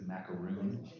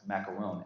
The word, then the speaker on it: macaron: french lesson is so the Americanization the anglicization of the word is macaroon right in fact you spell it r-o-o-n but the only the there's one word in French macaroon m-a-c-a-r-o-n which is our dots